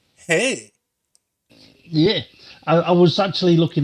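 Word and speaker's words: Hej: Hey, that's okay. So it's pronounced hey, but it's spelled H-E-J.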